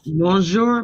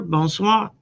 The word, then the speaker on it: bonsoir: Uh uh bonsoir bonsoir.